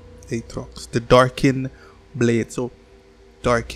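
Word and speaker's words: Aatrox: champ we have here it's atrox or a trucks i know you pronounce this guy's name atrox the darkin blade so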